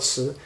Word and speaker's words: 词: three词，write this again，词，pronounce as this，第二tone二声，词 the second tone 词，single one is 字文字，right， two or three or four or more combination。Make different meaning. It's called 词, but if it's a